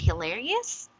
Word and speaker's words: hilarious: hilarious okay yeah now do you know in what syllable can we put our stress on the word hilarious okay it's fine so this should be emphasis emphasized on the second okay syllable also okay so it's hilarious Thank You sandy now